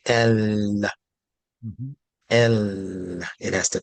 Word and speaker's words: ل: But lamb, when pronounced in the mouth meaning the tongue, has to actually touch the top palate to Mhm. say el, Mhm.